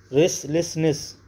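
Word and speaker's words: restlessness: योग्य मंजूर करने योग रेस लेसनेस रेसले सनेस माने होता है बेचैनी बेकरारी रेसले सनेस टी साइलेंट रहेगा रेसले सनेस बेचैनी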